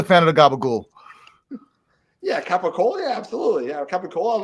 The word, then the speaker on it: capicola: Yeah, capicola. Yeah, absolutely. Yeah, capicola. I love the capicola. Yeah, but Okay. see, gabagola. That's another. That's the American Italian way of saying it.